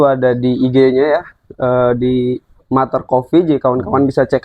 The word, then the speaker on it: Mutter: Nanti Ada langsung aja cek di medsosnya Mater Coffee, itu double T ya, MUTTER Mater. Coffee. Muter. Ya Tapi muter. dibacanya Mater. Jangan katrol lah.